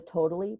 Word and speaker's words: tota11y: There's the Totally browser extension, which is spelled TOTA11Y, Totally browser extension.